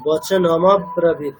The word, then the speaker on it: বচন: উচ্চারণটা হলো না ম্যাডাম যেভাবে ঠিক বললাম স্যার বচন এরকম উচ্চারণ হবে বচন না ওরকমটা দেখুন স্পেলিংটা কিরকম আছে একটু সবাই দেখুন কি আছে বচন মানে এর সাথে অকার আছে তো তাহলে আমাকে অকারটা উচ্চারণ করতেই হবে বচনমাত বচনমা ঠিক